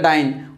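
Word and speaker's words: dyne: এটা প্রকৃত উচ্চারণ হচ্ছে ডাইনি না, অনেকে ডিওয়াই ডাইনি ডাইনি। তো আমার এখানে হচ্ছে এটার প্রকৃত উচ্চারণ হচ্ছে ডাইন, ডিওয়াইএনই, ডাইনি না।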